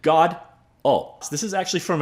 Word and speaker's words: Godot: You pronounce it God. Oh, so this is actually